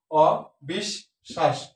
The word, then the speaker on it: অবিশ্বাস: অক্ষর দুই সিলেবাল বিশিষ্ট শব্দটি অবিশ্বাস এই বিশ্বাস শব্দটাকে অ দ্বারা নেতিবাচকতা দিয়েছে এজন্য অটা ও থেকে যাবে অবি 20 এখানে স আছে কয়টা একটা তার সাথে বলা আছে কিন্তু বলা মাঝে শেষে থাকলে দুই দুইবার উচ্চারিত হয় যে বর্ণটা থাকে সেটা তাহলে স টা দুইবার হবে অ বিষ শ্বাস শ্বাস এখানে তালবস্য হবে কারণ হচ্ছে সদ তিনটা সলো পরপর অষ শ্বাস ঐক্যতাল ঐক্যান হচ্ছে এখানে